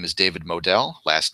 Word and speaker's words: Moadel: My name is David Modell. Last name is spelled Moadel.